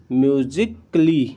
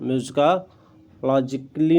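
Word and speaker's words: musically: रहा है ए, जी, यहाँ पर ए आया हुआ, इसके बाद डबल एल वाई आया हुआ है, एल एल वाई आया हुआ, तो यहाँ पर जो ए है वो हमारा साइलेंट हो गया। तो क्या पढ़ेंगे, म्यूजिकली, म्यूजिकली, म्यूजिकालोजी नहीं, लॉ, हाँ, म्यूजिकालॉजिकली नहीं, म्यूजिकली पढ़ेंगे, ठीक है।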